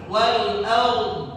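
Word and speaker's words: والأرض: Wal ARD Wal ARD D ditahan ya dnya musti kebaca jangan sampai dibacanya apa rnya d wasusti walard kurang enggak kurang apa yang hilang dnya enggak ada musestinya kan wassiuswati walard walard walard Gitu tapinya Jangan dibaca atau jangan dipantulin cukup ditahan di mana di di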